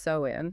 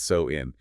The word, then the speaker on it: Samhain: And just for anyone reading the historical text, the spelling looks like Samhain, but it is actually pronounced so-in. Yes, so-in.